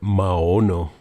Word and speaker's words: Maono: other microphone now and this is using the ma'ono microphone I pronounce it right this time but uh yeah